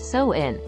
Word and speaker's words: Samhain: Believe it or not, Halloween can trace its roots back over 2,000 years to the ancient Celtic festival of Samhain, pronounced So-in.